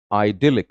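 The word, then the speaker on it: idyllic: अगला बहुत ही प्यारा सा शब्द है आइडिलिक. Grammatical profile is adjective. And pronunciation पे भी ध्यान देंगे. दिल पे आवाज का स्ट्रेस ज्यादा आएगा आपके.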